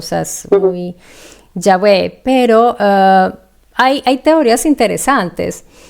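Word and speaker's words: Yahweh: tal en aquella época, no sabemos esa pronunciación exacta, ¿no? Yahwe es la más cercana. Es la más cercana, pero hay personas que se empeñan en Jehová, Jehová, que es eh es algo que es una latinización posterior, o sea, es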